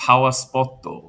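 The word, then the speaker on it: パワースポット: things called they have something called a pawpoto which means that's that's a Japanese pronunciation of the English words power spot.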